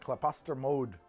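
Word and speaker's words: Klaposter Mjød: I'm gonna look at claposter mode that's how you pronounce that plaster mode this is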